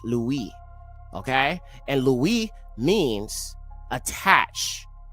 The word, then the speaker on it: Levi: And that would be Levi but it would actually in a bar would be pronounced Louie.